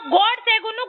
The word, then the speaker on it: ಗೋಡ್ಸೆ: ಕೊಡೋದು ಮೊದಲು ನೆಟ್ ಗೆ ಗೋಡ್ಸೆ ಜಿ ಅನ್ನೋ ಹೆಸರನ್ನ ಗೂಡ್ಸೆ ಗೂಡ್ಸೆ ಅಂತ ಹೇಳಬೇಡಿ ಗೊತ್ತಾಯ್ತಾ ನಿಮ್ಮ ತಲೆ ಒಳಗಡೆ